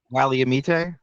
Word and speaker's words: Willamette: He He brought up the Willamette River in the opening, which is kind of How do you say it? Willamette Wally- Wally- amite Uh-huh.